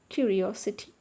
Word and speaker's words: curiosity: Curiosity. When the word is ending with ity, the stress is on the third syllable from the end. Curiosity.